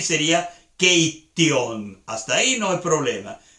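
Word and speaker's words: keittiö: Y tú tienes que darte cuenta que ahí en keitio hay dos T's. Y no es keitio. No, es keitio. Hay dos T's ahí.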